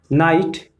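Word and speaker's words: knight: नाइट, नाइट में भी GHT है, लेकिन इसमें GH क्या हो गया है, तो साइलेंट हो गया।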